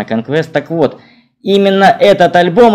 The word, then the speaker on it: Conquest: hit conquest 1980 года иногда его произносят как конкурс но правильная скорее конечно conquest так вот именно этот